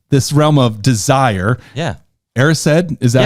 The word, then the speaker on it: Erised: Erised, is that how you say it?